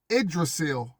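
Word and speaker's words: Yggdrasil: is pronounced idrasil but spelled y g d r a s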